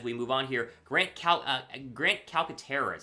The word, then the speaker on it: Calcaterra: Grant Calcaterra is how you say his last name, the tight end out of SMU, formerly from Oklahoma.